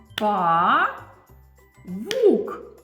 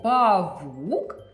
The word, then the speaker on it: павук: Діти, а якщо я слово павук вимовлю так? Павук, я правильно говорю? Ні. А чому воно так дивно звучить? Павук, бо я неправильно ставлю наголос.